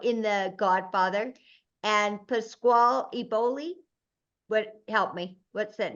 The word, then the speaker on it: Eboli: Eboli.